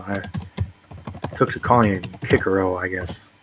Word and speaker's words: Cicero: I think it normally said Cicero, but the C's are pronounced as K's in Latin, so I took to calling it Cicero, I guess.